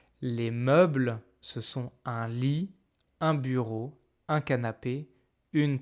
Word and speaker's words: lit: Alors, on a un lit. Attention, c'est pas un lit, on ne prononce pas le t.